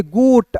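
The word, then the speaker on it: goat: अब देखिए इसका जी का उच्चारण ग के रूप में क्यों होगा? जी के बाद दोस्तों जी के बाद क्या है? ओ है। और हमको रूल में क्या देखना है दोस्तों? इ आई वाई के अलावा कोई भी रहेगा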